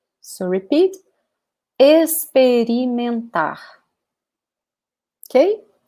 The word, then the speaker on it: experimentar: And you can also use the verb experimentar. So repeat, experimentar. Okay? So notice that this X here sounds like an S.